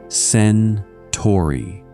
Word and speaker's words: Centauri: Alpha Centauri, first of the household, pronounced sen-TAWR-ee, is a pair of suns circling each other closely, and the larger of the two is nearly a twin of ours.